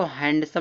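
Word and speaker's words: handsome: यहां इसको हैंडसम लोग पढ़ते हैं। हैंडसम नहीं हैंडसम होता है। एन के बाद डी साइलेंट होता है दोस्तों। हैंडसम।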